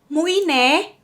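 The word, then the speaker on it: Mũi Né: So this next city is very hard for me to pronounce, but here is Rose pronouncing it. Mui Ne.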